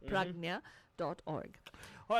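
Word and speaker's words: Pragnya: do go ahead to pragna org and then we can connect you with the right resources again PR AG nya pragna the way it is spoken that's the way it is spelt pragna dot org all right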